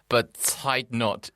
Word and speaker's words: Bezuidenhout: People sometimes say Bezuidenhout or Bezuidenhout. But I think they're just trying to make it more European than it actually is. Yeah. It's just Bezuidenhout.